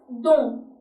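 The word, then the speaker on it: dans: For example, the word DNS, which means in French is pronounced as don. Is silent.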